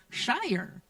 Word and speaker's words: Schairer: Reverend Abigail Schairer. And for those of you with a little Celtic blood, you know Schairer. That's the correct pronunciation.